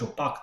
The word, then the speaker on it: opaque: I was pronouncing it more like French opaque tokens, but it's actually opaque, meaning non-transparent.